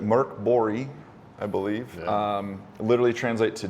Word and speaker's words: MÖRK BORG: Yeah, so Mork Borg, or as the Swedish pronounce it, MÖRK BORG, I believe, literally translate to Dark Fort, I believe.